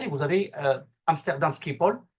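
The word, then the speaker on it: Schiphol: vous avez euh Amsterdam skipol euh ou stpol comme on le prononce en nérlandais euh qui euh quand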